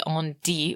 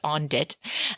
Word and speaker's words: on-dit: things I've been reading obviously on D was not pronounced on dit uh like I thought it was so I reached out